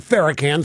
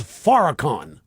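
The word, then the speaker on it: Farrakhan: Calypso Louie Minister farakhan it's not faran say it right it's Faron we are respectful on this show it's faran no seriously where here's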